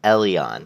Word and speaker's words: Eleon: little um um um alien is it eleon eleon alien elian sorry i try to pronounce it correctly it's eleon that's how you pronounce it i was going